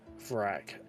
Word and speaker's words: Vrack: Rhymes with rack. Vrack.